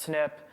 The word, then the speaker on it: SNP: one little part so the SNP is pronounced snip um so if you